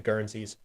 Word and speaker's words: guernsey: go Guernsey yeah uh like Guernsey like uh spelled the same way as the uh the island uh the UK Island she uh-u-e-r-n-s-e-y currency something like